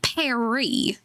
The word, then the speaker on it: Paris: Paris Nick. I believe it's pronounced Perry.